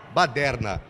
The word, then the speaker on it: baderna: Carnalha, esfirra, macarrão, vou escolher baderna. A pronúncia nossa. Baderna. Essa é a nossa, a pronúncia estrangeira.